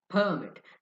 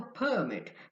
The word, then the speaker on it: permit: So the word permit stress on the first syllable makes it a noun. But if you stress the second syllable, it will become a verb.